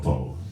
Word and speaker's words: OPPO: Tevelow from the band OPPO. Oppo. Is that how you say it? That's how you say it, Oppo.